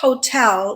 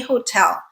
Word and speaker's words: hotel: So when I use articles, I'm always going to say a hotel. I am never going to say an hotel. But people pronounce this word without the at the beginning. treating the H as silent, hotel, okay?